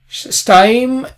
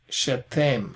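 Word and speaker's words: שתים: In biblical Hebrew, you pronounce the shva, shetem, actually.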